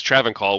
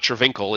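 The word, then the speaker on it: Travincal: written like um like traven call has been pronounced in D2 by by you know Deckard in act three he says traven call we have a record of how someone says it so it's not Trinkle it's traven call or whatever right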